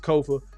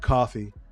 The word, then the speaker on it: Kofa: I have been your humble host, Kofa, Kofa. Not coffee, not, not kofi, or any variation thereof. Kofa rhymes with sofa.